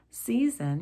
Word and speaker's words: season: Season has two S's, one giving us the S sound, season. The second S gives us the Z sound.